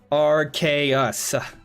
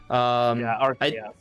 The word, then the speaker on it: Arceus: Taker said it's pronounced Arceus. Arceus.